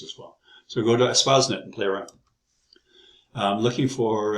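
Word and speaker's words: Espacenet: And there's several databases, and ESPASnet, that's how you pronounce it, is a full-text open repository of terms.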